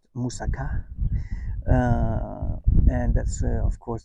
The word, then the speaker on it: moussaka: Most people probably know moussaka, which is actually pronounced moussaka.